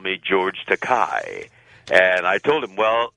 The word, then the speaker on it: Takei: of my name because there is a legitimate Japanese word that's pronounced Takai, and it translates into English as expensive. But my name is pronounced Takei, and no producer likes to call an actor expensive.